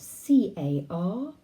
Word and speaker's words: carpel: organ this is called the carpal the carpal it's spelled c-a-r-p-e-l carpel this carpal is made up of three